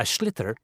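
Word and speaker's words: sliotar: you have to get this ball called a schlitter that's s-l-i-o-t-a-r it's not spelled the way it's pronounced you hit it into the net for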